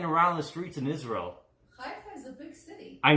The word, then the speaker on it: Haifa: Also, wild boars have been seen roaming the streets of, Haifa. Is that how you pronounce it, Ima? Haifa? Haifa, Israel. I'm an Israeli citizen, so Haifa.